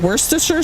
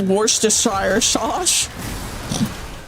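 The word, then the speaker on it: Worcestershire: Woristers sauce. Wait, is that how you say it? Worsture sauce.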